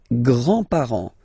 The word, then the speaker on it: grands-parents: Les grands-parents. Les grands-parents. Remember, you don't pronounce this final S here. Grands-parents, okay?